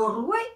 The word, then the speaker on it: roi: non c'était l'ancien français c'était la façon de prononcer le français c'était le code de prononciation l'ancien français c'était le euh le roué c'estè c'est Mo oui c'est ça le dit comme tout le monde le roué c'est Mo oui très intéressant les